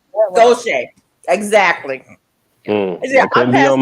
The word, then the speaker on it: Gautier: She said, "Gauche." And I'm like, "Spell that." And when she spelled it, I was like, "Yeah, I passed through there before." I don't remember how it's spelled, but it's got a Gautier. that one. Gauche.